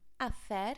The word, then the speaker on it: hacer: And again, be careful of that pronunciation, that's CE, because the C sounds like a TH, a th sound, when it's before the E.